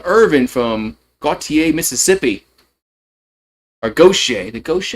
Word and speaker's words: Gautier: Or gocha. The goch. I think it's gocha. I think I think they pronounce it go over there.